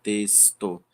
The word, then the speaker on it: texto: Da mesma forma, a palavra texto a gente se escreve eh com X, porém ela tem um som de s, texto.